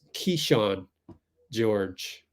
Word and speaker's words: Kyshawn George: So this one is Kyshawn George, which is pronounced, according to Fitz, pronounced Kyshawn George.